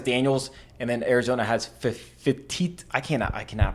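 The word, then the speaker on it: Fifita: Fafita is how you pronounce it.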